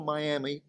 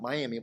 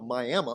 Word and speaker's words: Miami: in Miami, Oklahoma, and we do have a Miami, not Miami, a Miami, Oklahoma, spelled like Miami, in the northeastern part,